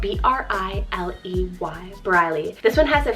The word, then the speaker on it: Briley: Then I have Briley, spelled B-R-I-L-E-Y, Briley.